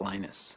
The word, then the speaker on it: Linus: speak finnish it's linos when i speak english it's linus and i really don't